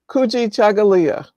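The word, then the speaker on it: Kujichagulia: Green pronounce it, Kuji Chagalia.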